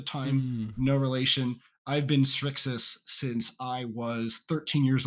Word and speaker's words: Srixis: get to be like it's pronounced like strix but without the t so it's it's actually